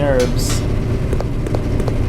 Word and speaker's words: herbs: mining for those green herbs fun fact I used to always pronounce it like hurts I didn't realize they'd be silent and that one's Lon